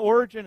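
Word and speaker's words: Origen: previous Theologian by the name of origin now origin is spelled almost like when we would say origin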